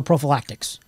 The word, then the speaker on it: prophylactic: Well, in the year 1158 and 365 AD, there were no prophylactics. Prophylactic. Say it like Ford Fairlane.